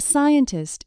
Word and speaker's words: scientist: A scientist is looking for a cure for the illness. In scientist, the first C is silent.